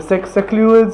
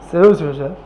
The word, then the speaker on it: Seleucids: Where we had the Ptolemies and the Macedonians and the Secluids. How do you pronounce that again? Secluid, something like that. Seleucids, yeah.